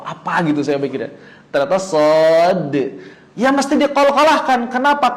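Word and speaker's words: صاد: Karena suara terakhir dari nama huruf shad adalah huruf dal. Shad. Nah, ini kolkolahkan dalnya. Nggak bisa kita bacanya shad. Nggak bisa. Ya, begitu. Karena kita tidak sedang membunyikan suara shad, tapi sedang menyebutkan namanya. Dan di dalam nama shad ada huruf dal.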